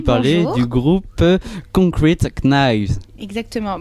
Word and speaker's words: Knives: du groupe Concrete Knives. Exactement. Bon, t'évites de dire le K parce que Ah oui, c'est vrai. prononciation. Oui, rappel de Monsieur Lozel, on dit knives, knives.